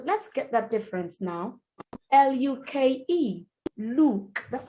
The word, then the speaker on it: Luke: All three words wrongly pronounced. Look. That's a noun, not a verb. It's a name. Luke is a name.